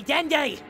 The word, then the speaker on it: Dende: No, you will call me Dendi.